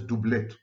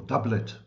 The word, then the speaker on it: doublet: obscure concept from psychoanalysis known as dublet or doublet in typical American mispronunciation dublet is a designation